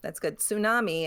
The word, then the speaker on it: tsunami: Tsunami, except that the T kind of is pronounced. Yeah, that sounds tsunami. That's pronounced because it's from the Japanese. It uses the character tsu, which uses the T.